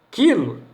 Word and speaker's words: quilo: Produz o QU, só a consoante tem som. Quilo é uma abreviatura de quilograma.